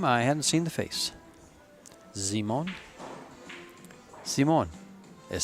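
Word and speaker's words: Zymon: hadn't seen the face zimon zimon is say it's like Simon but then they put a z in there so it's a Polish Simon kind of it's spelled as z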